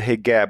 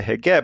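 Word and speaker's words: حجاب: know you you have what the Egyptians would call the hegab which is you would pronounce that HB I guess in the in in in proper Arabic but in Egypt it's a heab and that's just the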